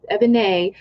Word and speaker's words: Ebonée: mispronounce it and say other names, but it's Ebonée.